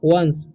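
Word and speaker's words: once: तो first sentence का first word है वंस, इसे पढ़ते हैं हम लोग वंस, ऑन्स नहीं पढ़ना, ठीक है।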